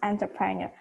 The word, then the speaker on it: entrepreneur: hear that entrepreneur entrepreneur yes that's how we pronounce entrepreneur entrepreneur getting it was megataiga bogus moment if